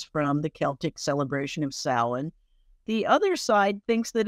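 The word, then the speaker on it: Samhain: their New Year celebration the name itself which looks like it should be pronounced Sam ha um was a time when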